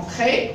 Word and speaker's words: prêt: On dit elles, ils sont prêts, ça. Elles sont prêtes. Il est prête. Il est prêt. Ils sont prêts. Ne prononce pas la lettre T.